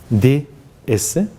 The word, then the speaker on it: DS: DS, pero pronunciado, una palabra, digamos unas siglas pronunciadas a la francesa significan diosa.